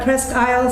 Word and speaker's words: Presque Isle: phone, well, I know you're coming to do Presque Isle State Park. Did I pronounce that?